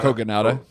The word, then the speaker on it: Kogonada: And direction, like um how do you pronounce his name again? Kogonada? Kogonada. Yeah. Yeah, Kogonada.